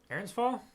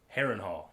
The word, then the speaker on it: Harrenhal: Harrenhal? Harrenhal. Harrenhal. Had the syllables kind of rhyming, but you got it there.